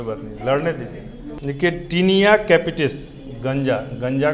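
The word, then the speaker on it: Taenia capitis: इसका टीनिया का स्पेलिंग होता है TAENIA, टीनिया। सोच के भी कोई नहीं बना सकता है, TAENIA, TAET, और उसके बाद है NEA, कैपिटिस, CAPITIS, कैपिटिस। दमा का लिखिए, दाद का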